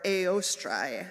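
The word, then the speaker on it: Eostre: Oestra, or Eostrai is actually how it's pronounced in Old Germanic.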